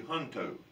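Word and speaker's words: Junto: that's called the hunto it's spelled j-u-n-t-o but it's actually hunto this is a group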